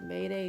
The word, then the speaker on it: Mayde: room bundled hair from i believe it's pronounced mayday beauty this hair is 1b